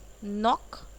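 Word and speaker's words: knock: Okay, अब आता है के वर्ड साइलेंट, ये तो बहुत ही इजी है। नी यानी कि घुटने, नॉट मतलब मतलब कि गांठ, नाइफ मतलब चाकू, नाव मतलब नो मतलब जानना, नॉक मतलब दस्तक देना।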